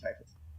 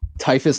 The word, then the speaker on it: Typhus: Someone said it was pronounced Typhus. If it is, I don't care. Pronounce it Typhus. That's wrong. Whoever said that is wrong. Typhus, like the illness.